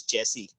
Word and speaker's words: chassis: registration this is so i have heard it so many times in movie they use chassis yes this one is chaos chelsea chelsea and sashi both are correct pronunciation no there is no